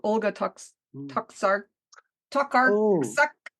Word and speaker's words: Tokarczuk: Tokarczuk Oh, Tokarczuk, yeah.